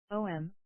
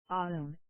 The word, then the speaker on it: Om: Om, Aum, is such a sound, the basis of all sounds.